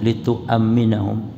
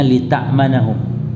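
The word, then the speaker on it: لِتُؤَمِّنَهُمْ: Litu aminahum, Jadi pakai wawu yang ada hamzahnya, litu'amminahum. Kalau ini bacanya lita'manahum, ya. Tapi yang betul litu'amminahum mimma yakhafun, agar mereka memberikan keamanan terhadap apa yang ditakutkan oleh manusia.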